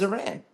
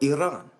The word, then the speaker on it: Iran: to no end is Iran or Iran to say it properly and I say that